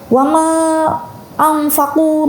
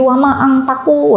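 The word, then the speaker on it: وَمَا أَنْفَقُوا: Tapi gimana nih kalau misalkan sudah bawaan, misalkan orang wama angfaku menjadi wama angpaku. Wah, ini tidak boleh ya teman-teman.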